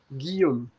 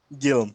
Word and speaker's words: Guillaume: So my name is Guillaume. Guillaume.